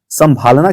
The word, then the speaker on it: संभालना: लेकिन जब आप संभालना की बात करें, देखिए जरा, संभालना, संभालना, संभालना, संभालना, तो संभालना जैसे ही बोले आप, ये नाक से भी प्रोनाउंसिएशन आ रही है।